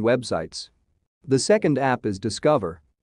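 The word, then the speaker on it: DSCVR: the second app is discover not spelled in the way it is pronounced it is a decentralized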